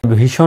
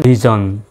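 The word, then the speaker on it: vision: সেটা ঝন বলতে হয় ডিসিশন এই এস এর উচ্চারণটা ঝর মত হয় বা জন মত হয় ভিশন না বলে বলবেন ভিজন ভিজন তারপর টেলিভিশন নয় টেলিভিশন যদিও বা টেলিভিশন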